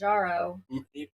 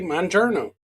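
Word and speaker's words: Mounjaro: it's Manjaro. That's what? Manjaro. Yeah, okay, Monjourno.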